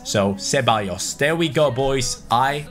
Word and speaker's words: Ceballos: Ceballos. The double L is like a Y, and the C is like a S. So Ceballos.